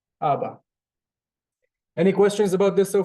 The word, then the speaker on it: Abba: In Hebrew, it kind of differs, but usually the first. So, Abba, Abba.